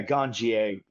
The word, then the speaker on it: Ganjier: Yeah, Ganjier. Very much like sommelier, so we pronounce it yeah, the French pronunciation.